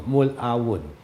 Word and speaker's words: Mulawon: Again, perhaps the difficulty of the Spaniards to pronounce the name Mulawon. Actually, it's pronounced Mulawon.